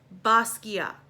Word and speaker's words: Basquiat: this one is jean-michel Basquiat and technically the French pronunciation would be Basquiat but let's just add the T on okay um so the